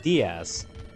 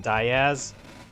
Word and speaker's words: Diaz: Well, it's normally pronounced Diaz, right, in Spanish, but because I think his grandfather was like working in like coal mines or something like that, and they would just pronounce his name Diaz, he just went by that, and then it just became the official pronunciation of their last names.